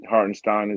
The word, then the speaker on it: Hartenstein: on hardin's yeah hardinstein hardenstein is in the game he said that's how he wants people to say his name the German Way my heart and steam